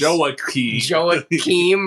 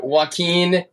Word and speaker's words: Joaquin: we mentioned Joaquin Phoenix, who I think we pronounced as Joaquim or something like that. It was brutal. Just forgive us. That was awful. Super cringe. And Joaquin, if you ever listen